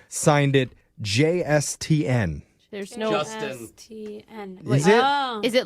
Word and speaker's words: JSTN: It's Justin, but it is spelled JSTN. All caps. Okay, it is Justin.